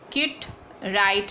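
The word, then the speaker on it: Kit Wright: Poem लिखी है किट राइट ने, W साइलेंट है, कीट राइट, W साइलेंट हेयर, ठीक है।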